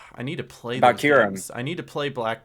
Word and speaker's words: Kyurem: I want to say it's I can never pronounce it right, but it's the Black Kyurem. Kyurem, that's how it is.